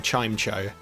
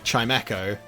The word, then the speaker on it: Chimecho: know cigar's pretty clutch i spent a lot of my life pronouncing this pokemon chime show until i heard someone say chimeko and i thought oh because it's a bell and everything fell into place so um i don't